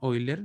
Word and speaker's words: Euler: Se escribe Euler, se pronuncia Euler. Este tipo era alemán.